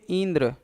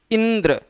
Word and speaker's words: इंद्र: इसको अगर बहुत धीरे बोलेंगे इंद्र तो नहीं इंद्र इंद्र शब्द का शुद्ध उच्चारण हो पाए इस शुद्ध उच्चारण के नाते इ पर इ पर विशेष बल देना पड़ रहा है और यह जो आप